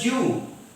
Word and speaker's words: do you: Okay, and do you is pronounced as ju. Do you go to school? You go to school, ju. Do you is ju.